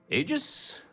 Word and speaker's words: Aegis: a package left and it's pronounced Aegis they need UC security